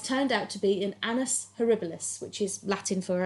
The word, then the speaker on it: annus: out to be an annus horribilis, which is Latin for a horrible year. Which, you know what? I get why. Yeah. It's like, she says anus horribilius, or however Annus, it's pronounced. not anus.